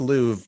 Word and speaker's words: Louvre: I researched for weeks in It's the pronounced Louvre, Ben.